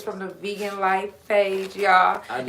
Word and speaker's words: LHF: And it's from the Vegan Life page, y'all. And it's vegan LHF pronounced life, y'all.